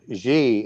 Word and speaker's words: Xi: So a good example would be President Xi in China. And that's spelled X-I.